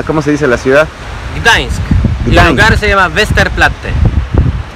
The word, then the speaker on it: Gdańsk: Y bueno, Lucas, ¿puedes pronunciar por favor cómo se llama, cómo se dice la ciudad? Gdańsk.